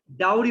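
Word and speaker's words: dowry: ডাউরি বলো, ডৌরি না, বলো ডাউরি। ডোরি, সরি। ডাউরি বাবা, ডৌরি না, ডাউরি, ডা ডা। ডাউরি। এক্স্যাক্টলি, তুমি ডিও দেখে মনে করতেছো যে এটা ডো হবে।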